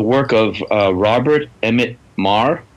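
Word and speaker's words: Meagher: of uh Robert Emmett Marr spelled m-e-a-g-h-e-r um so I couldn't pronounce it until I met him but Bob Mar okay he's got several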